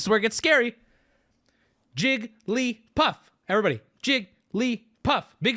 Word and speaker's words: Jigglypuff: you're struggling you're struggling you can say it like this but when asked how many syllables this is correct you can run around and call it Jigglypuff be my guest but please when asked the answer is three I feel I I